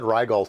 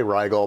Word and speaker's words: Rigol: right well uh it's regal actually the way that they pronounce it is regal i've always said rydel so i'm going to say rigel probably forever but regal